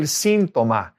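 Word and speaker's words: síntoma: Accent on the I, el sintoma.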